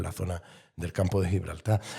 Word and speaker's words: Gibraltar: Valle Tarik, que es Gibraltarán, ¿no? Nosotros recordad que la G la pronunciamos como una J, pero si escucháramos un llanito a un gibraltareño decir Gibraltar, diría Gibraltar.